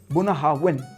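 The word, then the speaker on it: Bunnahabhain: इट्स बननाविन। नॉट बनना। इट्स बननाविन।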